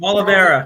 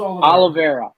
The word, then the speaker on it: Oliveira: Oliveira. Charles Oliveira.